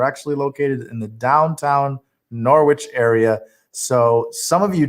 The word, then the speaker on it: Norwich: in southeastern connecticut in a place called norwich some call it knowledge there's like this accent in this city and that's how they say it norwich connecticut uh it's